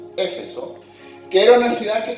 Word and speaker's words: Éfeso: que se llamaba Éfeso, acento en la E, Éfeso, que era una ciudad que tenía un montón de drama.